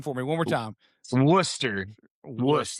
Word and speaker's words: Worcester: And but I confuse it with Worcestershire sauce, but that is not how you say it. It's technically technically Worcester, like Worcester, Massachusetts. So, it's like English, you know, name.